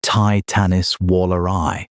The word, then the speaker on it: Titanis walleri: And there's still a live argument about whether Titanis walleri, pronounced Titanis waller eye, a North American terror